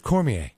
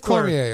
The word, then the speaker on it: Cormier: Cormier, apparently I'm the only one who says his last name correctly, which he appreciates, by the way. He always gives me a big hug because of it, because everyone else says his last name wrong, but he always gives me a warm embrace. Well, why doesn't he tell everybody it's Cormier? I think he just doesn't want it to be awkward, but, right. I'm a stickler. It's Cormier, all right?